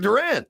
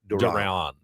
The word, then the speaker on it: Duran: Yoan Duran. Duran. Duran. Duran. Okay. It's not like Duran. Duran. It's more like Don.